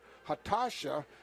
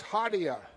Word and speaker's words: Hatasa: for Mount West honka it's pronounced according to the coach hatasa but up in the mountain iron area it was hadia so guess different pronunciations in each area of our state country we'll have a